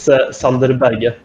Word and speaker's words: Sander Berge: it's the first name, because it's Sander instead of Sander. So it's Sander Berge. Sander Berge. Yeah. So we have it's like we pronounce Sunday in our language.